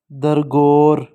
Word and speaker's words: درگور: قوانین، سرخرو، مناظر، حقوق، درگور، متعین، گور کے اوپر زبر آئے گی گاف کے اوپر نا، سما، شفاعت،